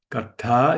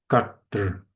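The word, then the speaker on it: कर्ता: There's a there's a dot under here. That's actually correct way to say, but keep it easy. Now I make I and not the doer kata. Karta is the first case of the stem doer. Carter, this retro flex R is actually a vowel.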